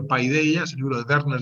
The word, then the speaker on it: Paideia: profe, que leas Paideia, se pronuncia Pedía, pero se escribe Paideia, es el libro de Werner Jaeger, que se llama Los ideales de la cultura griega.